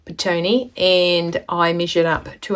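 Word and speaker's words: Petone: not in New Zealand that is spelled p e t o NE e pet one Paton and I measured up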